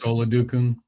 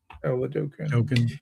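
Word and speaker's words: Oladokun: ended up being because what it's him Chris O Kadun or I don't remember how to pronounce it. Chris Oladukan. Oladukan. Dukan.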